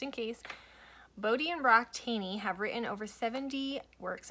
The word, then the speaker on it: Thoene: The name is spelled T-H-O-E-N-E, pronounced Thoene, not Thoene.